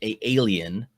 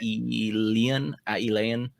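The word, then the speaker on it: Aelian: So there is a Greek historical dude, alien, sorry, that's not really how it's pronounced. Probably Aeolian. That's probably it.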